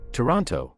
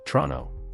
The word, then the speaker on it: Toronto: likely to hear Niche Toronto while Americans pronounce all the letters in this word Canadians say Toronto Z the last word